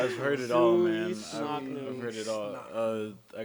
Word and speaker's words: Suoicsnocnu: I know it's unconscious backwards, but it's Suoicsnocnu. Suoicsnocnu. I had Yeah. no shot at saying that properly. So disrespectful. I've heard it all, man. Suoicsnocnu.